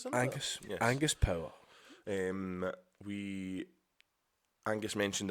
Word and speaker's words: Angus: we were in, Angus, sorry if I'm not pronouncing your name right, Angus. That is Angus, isn't it? Angus.